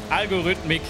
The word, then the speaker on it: Algorithmik: Algorithmik. Genau, dankeschön. So rum wird's ausgesprochen. Algorithmik.